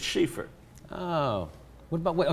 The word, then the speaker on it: Schieffer: to say about Bob schaer no just say pronounced schaer it's schaer not Schaefer it's Sheaffer oh what about what oh schaer is the